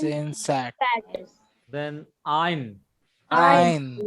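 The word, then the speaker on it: ע: Ein, Ein is again a silent letter and its transliteration is reverse apostrophe.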